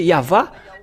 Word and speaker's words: Yahvah: la question se pose c'est W ou V c'est à suite à la transitération des chercheurs et des savants bon donc ils ont utilisé le W mais si on regarde depuis l'original hébreu donc c'est V le vrapellation et ceux qui ont prononcer yava ceux qui sont aôés